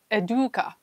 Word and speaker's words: Educa: probably say it wrong it's eduka eduka yeah eduka I think that that's a better pronunciation than what I was saying anyway so let's go